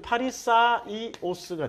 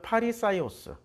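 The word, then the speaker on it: Φαρισαῖος: 자, 여기다 여기 아이오스를 붙이면 파리사이오스가 되는 거지.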